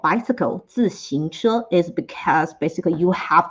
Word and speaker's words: 自行車: Okay, next up, 自行車. The pronunciation is a little bit tricky, so let's do it again. This time slower. 自行車.